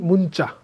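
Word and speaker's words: 문자: phone রেখে দেয়া মুনচারুল ফনেদা text message পাঠানো এখানে উচ্চারণটা খেয়াল রাখবেন মুচা মুজা হবে না মুচা মুচারুল ফনেদা টেক্সট মেসেজ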